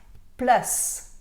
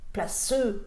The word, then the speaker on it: place: ค ะ Autre exemple, place s'écrit P-L-A-C-E et vous dites pas place, vous dites place. Comme si c'était écrit P-L-A-S. Place. Place. Place. Placeux. Non. Place.